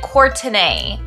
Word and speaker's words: Courtenay: It looks like Courtney, but it's like Courtenay.